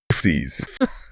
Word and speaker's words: Fsiis: And yes, that is pronounced Fsiis, which sounds almost exactly like physics.